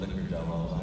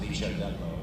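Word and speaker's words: Licciardello: and then the last name is L-I-C-C-I-A-R-D-E-L-L-O, Licordello, actually. It's pronounced Licordello. If you're going to say it right, but it's Licordello.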